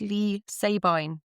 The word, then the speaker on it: Leigh Sabine: But her her children pronounce the surname Seabine. So it's Lee Seabine, which makes a lot more sense.